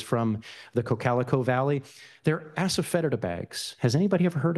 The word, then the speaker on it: asafoetida: was a kid, except he called it asperfidity, which is one of those local pronunciations that kind of indicates people have trouble saying the original Greek word, which is asafoetida.